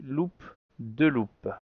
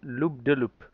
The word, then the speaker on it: loop de loop: Eh bien, en anglais, looping, ça se dit loop de loop, avec l'accent formidable loop de loop. Parce que, en fait, de, c'est en français, donc il le prononce avec un accent anglais en français.